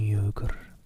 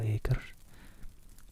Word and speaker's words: euchre: He taught me euchre, and after dividing London between us, I taking the northern side and he the southern, we played for parish points.